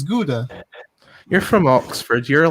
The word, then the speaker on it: Gouda: dame is it good i thought it was goda i don't know how it's pronounced it's gouda you're from oxford you're